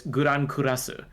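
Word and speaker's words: グランクラス: like guran kurasu I halfway between the Japanese pronunciation whatever the original language was uh it might be French cuz it should be grand if it's English but it's guran kurasu and so the lack of the D at the end of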